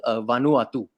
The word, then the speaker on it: Vanuatu: The 12th versus Vanuatu is what I've been told, how you can pronounce the name.